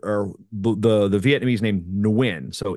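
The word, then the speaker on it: Nguyen: them uh there are the the Vietnamese named nwin so n gu ye n it could be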